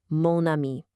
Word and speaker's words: mon ami: Because spoken French hates those clunky vowel crashes, we just borrow the masculine mon simply to create an elegant, smooth liaison, mon ami.